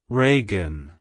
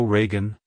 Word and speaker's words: Reagan: ragen it's pronounced as Reagan Reagan rean to pronounce it correctly emphasize the first syllable re e and the second syllable gun like hello Reagan goodbye Reagan if you